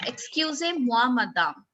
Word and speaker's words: excusez-moi, madame: No, excusez-moi, madame.